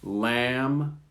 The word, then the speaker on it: lamb: listed them in red lamb climb notice you don't hear the p or the b cupboard photo receipt psychology